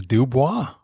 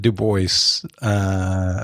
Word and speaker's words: Dubois: And yeah, I think only in the Northeast do they pronounce it Du Bois. Most places it is Dubois.